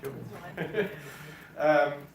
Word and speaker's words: Siobhan: Something like that, Siobhan.